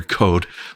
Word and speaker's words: Coad: Peter Code, not spelled like CODE. I think it's like COED or something. COAD. COAD. Okay.